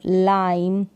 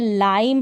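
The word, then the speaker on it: lime: लाइम है तो इसको हम लाइमी नहीं पढ़ेंगे।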